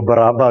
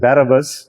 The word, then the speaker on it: Barabbas: ہم اس کو برابا کہہ دیتے ہیں. The correct pronunciation is Barabbas.